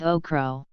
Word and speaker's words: okro: The name okra is most often used in the UK, United States, and the Philippines, with the variant pronunciation in Caribbean English and Nigeria of okro.